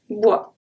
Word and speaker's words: bois: Autour d'un feu de bois. So, autour, the last letter that I pronounce is the R. D'un, d'un, feu, feu, de, bois, bois. Here the S is silent.